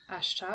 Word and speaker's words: Ashtar: Ashtar. Uh, yeah. He's got nice long brown hair. He kind of looks like Jesus, actually, which is really interesting. So Archangel Ashtar works with more galactic karma.